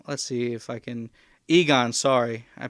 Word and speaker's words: Egon: the um the grandchildren of i think it's ego maybe i'm not exactly sure how it works but essentially um let's see if i can egon sorry i pronounced his name incorrectly um harold